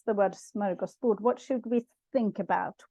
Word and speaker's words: smörgåsbord: But Stefan, how do we actually pronounce the word smörgåsbord? What should we think about when we say this? Because I often hear it a little bit differently when it's used in English. Smorgasbord. Smörgåsbord. Smorgasbord.